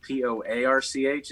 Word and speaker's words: Poarch: My name is spelled Poarch. It sounds like a front porch, obviously, but it's a